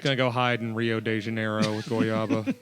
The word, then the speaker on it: Rio de Janeiro: how you say it we got a confirmation Rio de Janeiro yes all right yeah you can come in